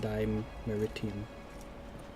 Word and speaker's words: Dimeritium: It's pronounced Dimeritium.